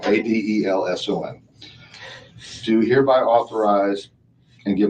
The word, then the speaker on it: Adelson: Actually, it's spelled right. I said it wrong. Adelson.